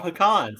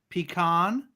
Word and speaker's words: pecan: To help you pronounce it right, so you stop making a fool of yourself by saying pecan. Do you say pistachio? Pistachio? Yes, pistachio. Yeah. Well done. See, I'm impressed. So you get back to the front of the class. So, for the record, what's a pecan? For the record, it is pronounced. Pat's still here. Pat's doing her research. She can't talk. She's busy researching stuff. It's pronounced pecan or pecan.